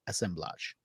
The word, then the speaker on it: Assemblage: what we're going with we're going with the French pronunciation but the title itself